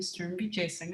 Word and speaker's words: Sturm-Wijesinghe: So my name is Sturm-Wijesinghe, and Brittany, you achieved your goal of the last name pronunciation.